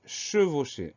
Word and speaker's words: chevauchée: deux mois ensemble le premier mot c'est le prononce e s e est le deuxième mot c'est chevauchée alors chevauché c'est un mot qu à trois